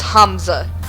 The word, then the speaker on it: Hamza: up bidding oh wait I've been saying it wrong it's Hamza I'm in favor of